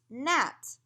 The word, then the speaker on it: gnat: If you have a GN, the G is silent. You don't need to say it. You just say at, gnat.